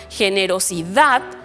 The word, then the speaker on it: generosidad: Veamos estos otros ejemplos, como generosidad. También suena fuerte la última sílaba, pero termina en una consonante diferente de N o de S.